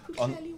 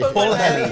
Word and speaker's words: Pwllheli: It's Pwllheli, Wales. We'll debate the pronunciation of it.